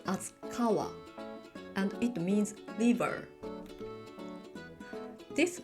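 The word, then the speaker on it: 川: For example, this letter is pronounced as kawa, and it means river.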